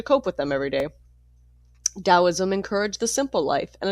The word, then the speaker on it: Taoism: The Taoism, pronounced Daoism, that developed in ancient China was a combination of philosophy and mystical religion.